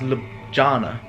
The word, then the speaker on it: Ljubljana: I've been spending it lovely honor and it's love Jonah to say spell it so maybe a pronouncing it wrong alone